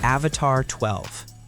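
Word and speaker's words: Avatr 12: Number three, the Avatar 12, pronounced Avatar12.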